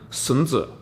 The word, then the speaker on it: Sun Tzu: AD his name was son zu or I'll try to pronounce this correctly and Mandarin sunzha and son zu basically